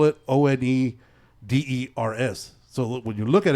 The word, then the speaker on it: The Oneders: The name of the band was The Wanderers, but they spell it Oneders. So when you look at it, it looks like Oneaters.